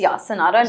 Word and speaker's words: Sanara Living: Is that how it's pronounced? It's Sanara Living.